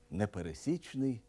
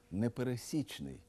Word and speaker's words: непересічний: вживають слово непересічний наприклад не пересічний талант зверніть увагу і на наголос непересічний а не непересічний слово пересічний означає середній